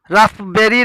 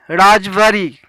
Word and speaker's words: raspberry: The 10th word राजवरी. raspberry नहीं, राजवरी.